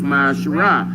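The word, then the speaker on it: מעשר: means tiffany hebrew and it's pronounced my shirai ten percent of every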